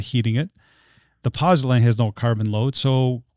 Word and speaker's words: pozzolan: The pozzolan, is that how you say it?